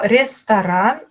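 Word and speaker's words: ресторан: Une petite particularité avec ce mot, restaurant, je prononce bien le A à la place du O parce que le O dans ce mot-là n'est pas accentué. Et là, voilà, c'est des petites particularités phonétiques.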